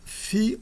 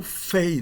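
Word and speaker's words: φῖ: Ah, essa letra se chama fi ou fei, né? Exatamente como pi ou pay. F ou fei. Fei era a pronúncia da época clássica. Depois da época clássica, mesmo em grego, ela passou a ser chamada de fi. E nós vamos chamá-la de fi, que é o nome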